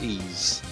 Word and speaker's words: Ys: one uh then i played that um please it's spelled ys ease yeah yeah the latest latest one of that